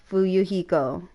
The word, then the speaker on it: Fuyuhiko: just learned how to say his name right fuyuhiko hurry Zoo I cannot say it if I